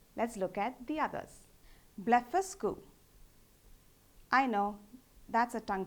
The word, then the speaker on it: Blefuscu: Blefuscu.